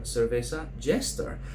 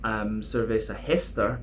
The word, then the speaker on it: Cerveza Jester: my first beer from Cerveza Jester. I would have thought it would have been pronounced Cerveza Jester, but apparently they like the English pronunciations.